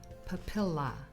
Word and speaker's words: papilla: Next, the derma papilla, pronounced papilla.